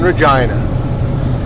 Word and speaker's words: Regina: yes she said yes it rhymes with or you have yeah or you said which beat you to a nothing can be finer than to be in Regina and that's the what